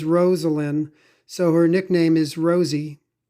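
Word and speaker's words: Rosalynn: His wife, her name is Rosalind. That's how she pronounces it. Some people say Rosalind, but she says Rosalind.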